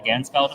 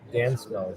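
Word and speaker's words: Ganzfeld: It's called the Gansfeld effect. Gansfeld. How do you spell that? G A N Z F E L D. Got that everyone. Gansfeld. Not the Gandalf effect.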